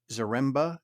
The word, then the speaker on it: Zaremba: in the state of Washington with owner zaremba am I pronouncing that right yes sir and Tony